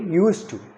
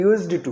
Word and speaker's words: used to: में डी लगा दीजिए और बोलिए यूज टू, ना कि यूज्ड टू। उसको यूज्ड टू नहीं बोलेंगे, डी लग जाएगा तब भी उसको यूज टू ही प्रोनाउंस करेंगे, ठीक है।